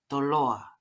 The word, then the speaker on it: Toloa: His pronunciation is spot on, where the T in Tongan nearly sounds like a D, and the accent is on the second to last vowel.